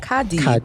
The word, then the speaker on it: Kardi: So Cardi, if I'm saying that right, how do you pronounce this, Stephanie? Kadi. R is silent.